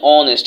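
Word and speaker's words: honest: অ্যান অনেস্ট ম্যান, অ্যান অনেস্ট, এই যে এইচ এর উচ্চারণ তাহলে হনেস্ট হওয়ার কথা, কিন্তু হনেস্ট হয় নাই, অনেস্ট হয়েছে। তার মানে এইচ তার নিজস্ব উচ্চারণটা নেয় নাই, এটা অনুচ্চারিত হয়েছে।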